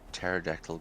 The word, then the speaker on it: pterodactyl: Why can you not hear a pterodactyl go to the toilet? Because the P is silent.